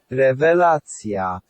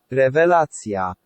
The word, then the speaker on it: rewelacja: Remember, there's no V. What do we have instead but the double V? Rewelacja. Rewelacja. So let's talk about two